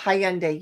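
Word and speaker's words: Hyundai: Yeah, Elantra is Hayande. Yes. Oh, not Honda. Hiande.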